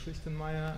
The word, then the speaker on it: Christenmeyer: the introduction and um you were fully perfect with pronouncing my name thanks um my name is christenmeyer and I'm working um